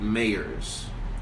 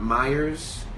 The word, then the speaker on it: Mayers: my last name to be pronounced right Mayers it's not Myers it's not meilleurs its Mayer's anyway uh um India